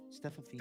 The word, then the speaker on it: Steffanina: Stephanina.